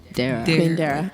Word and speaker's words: Darerah: it's actually pronounced queen there are okay so it's like dare like i dare you and like damn right okay mine is at